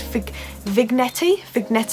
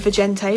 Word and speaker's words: vignette: never pronounce this word, vignette, I have no idea. I always used to call it vigente, but it's definitely not pronounced like that.